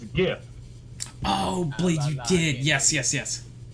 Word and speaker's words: GIF: Give is like a G sound. You know? Give. Give. Are you saying jiv? I'm just saying. Is if it wasn't a G word, like graphics, where you pronounce g instead of j, I would be okay with it. But it stands for Graphics Interchange Format, so it's GIF.